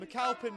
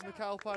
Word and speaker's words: MacAlpine: as I mentioned before I have heard James macalpin been thrown around as a pronunciation but it is macalpine as I say so if I switch